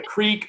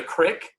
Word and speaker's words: creek: Like, I was in college, and I had, like, professors correcting me because my grandfather, like, would mispronounce words, I think on purpose. I don't know. Like, a creek was a crick.